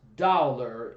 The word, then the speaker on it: thaler: The currency of the new union was the dollar, named for the German thaler, pronounced Dowler by the Pennsylvania Germans.